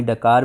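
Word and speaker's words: Dakar: अंतर्राष्ट्रीय ओलंपिक समिति ने 2022 में सेनेगल की राजधानी डकार में या फिर डैकर में, कहीं कहीं पर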